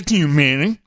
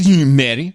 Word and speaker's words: Thunberg: Yes, the school strike with led, of course, by Greta Thunberg. That's the official. Thunberg. This is how Amy pronounces it. I'm keeping it to the pros. Greta Thunberg. That's how she pronounces it.